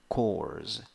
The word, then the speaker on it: course: Course, course, course. It's with S, not with Z.